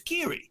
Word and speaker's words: Kyrie: mrs or mr irving but that's how he pronounces it anybody who's listening who's catholic you know it's key really it's kiri is it spelled the same way yes kiri